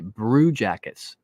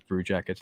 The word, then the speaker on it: Brew Jackets: I am part of the Hockey Podcast Network, and my podcast is called the Brew Jackets. BREW, as in, a brew, drinking brews with your bros, and it rhymes with Blue Jackets.